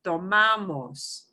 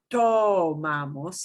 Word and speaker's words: tomamos: Tomamos. So not tomamos, it's tomamos. The second to the last syllable is tomamos.